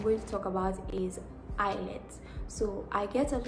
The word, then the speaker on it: IELTS: guys for some reason I kept on saying I let instead of IELTS I don't even know where that came from so just so you know